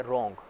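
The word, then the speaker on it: wrong: हम देख लेते हैं एक वर्ड है रोंग ठीक है उसमें व जॉनसन शुरू में आता है वो साइलेंट है उसको हम पढ़ते नहीं हैं रोंग रोंग की हम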